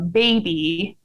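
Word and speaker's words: Babbi: mom says i'm a baby but he spelled it b-a-b-b-i and my husband pronounced it when he read the tweet out loud baby so we called him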